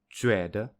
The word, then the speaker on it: 觉得: However, for the right picture, 觉得, the second syllable is definitely weaker than the first.